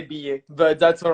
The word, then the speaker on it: Billet: introduce you so belay did i say that right or is it ba how do you say your last name they said i say be it but that's all right